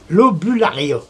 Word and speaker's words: Lobularia: Lobularia. Lobularia. Lobularia, comme ça s'écrit, comme ça se prononce.